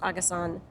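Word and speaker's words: AGE3: It's pronounced Agasan. Because 3 is san in Japanese.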